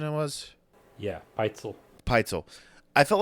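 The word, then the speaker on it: Pitezel: We decided the pronunciation it was yeah, Peitzel.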